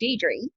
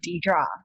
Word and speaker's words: Dierdre: And so we pronounce my name Dierdre. And that's how my parents pronounce it as well. But over here in the States, since I've moved over, I've been used to being called Dierdre. That's how they pronounce my name, Dierdre.